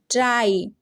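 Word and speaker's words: dry: पे फ्ली नहीं फ्लाई सी आर वाई क्राई डी आर वाई ड्राई ठीक है तो जब किसी वन सिलेबल वर्ड में होगा हमारा वाई तो क्या हो जाएगा आई से उसकी प्रोनंसिएशन होने वाली है जैसे यहां पे आपने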